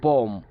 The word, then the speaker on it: bomb: যেমন দেখেন বম, বম, BOMB, বোম।